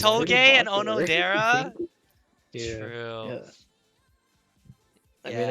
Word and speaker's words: Onodera: Odonera's sister. Oh no, there. Oh, It's Onodera, right? Or is it Odonera? I always say it wrong. It's Onodera.